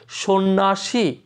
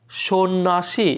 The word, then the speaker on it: সন্ন্যাসী: এখানে কিন্তু স্বর উচ্চারণ তো আমরা জানি শো করবো, সন্ন্যাসী, সন্ন্যাসী, এখানে জফলা থাকবে ঠিক আছে কিন্তু এই জফলার কোনো উচ্চারণ হবে না।